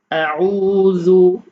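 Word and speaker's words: أعوذ: ফাতিহাতি সূরাতুল ফাতিহাতি মাক্কিয়া আউজু আউজু এখানে আইনের উচ্চারণটা একটু চাপ দিতে হবে জালের উচ্চারণ পাতলা আউ আউজু আউজু বিল্লাহি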